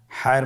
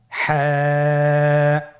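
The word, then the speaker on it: حاء: হা হরফটি উচ্চারিত হবে কণ্ঠনালীর মধ্যখান হতে। গলা চিপে ধরে আপনি উচ্চারণ করুন। আপনারা আমার সাথে বলুন হ্যাঁ।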